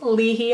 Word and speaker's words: Lehi: today is a Lehi sometimes pronounced ly he on my GPS the oldest home in